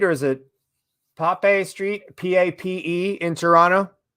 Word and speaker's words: Pape: man all i'm saying so pronounce pape one syllable by the way we